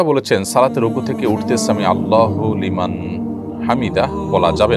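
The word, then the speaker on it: سمع الله لمن حمده: দেখুন সামি আল্লাহু সামি আল্লাহু লিমান হামিদা। এটি হল শব্দের সঠিক উচ্চারণ। সামি আল্লাহু লিমান হামিদা।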